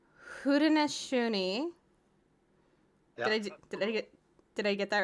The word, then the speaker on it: Haudenosaunee: How you pronounce it is Haudenosaunee and Tuscarora. Haudenosaunee.